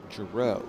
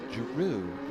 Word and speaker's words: Jaru: I I was calling Mark Jaru, JRo, because it's kind of spelled like JRo. He came up to me one day and he says, "Jaru like kangaroo."